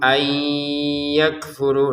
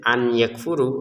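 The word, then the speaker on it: أَن يَكْفُرُوا: Jadi kalau kita sekedar baca an gitu, an yakfuru, nah ini akan dibaca jelas namanya. Kalau dibaca ayyakfuru ya dimasukkan tapi tidak dengung. Yang sempurna adalah dimasukkan nun sukun ke ya dengan dengungan, disertai dengungan.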